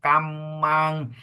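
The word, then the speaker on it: kammaṃ: Kinca, piso, kamang. Double consonant, we pause and make it clear.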